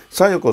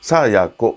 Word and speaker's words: 清子: もけよりいこ清らかな清子と書いて小夜子さんと読むそうでさーやーこさんですね